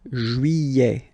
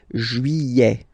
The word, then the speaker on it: Juillet: Juillet. Don't pronounce this final T, E-T here at the end. Eh. Juillet.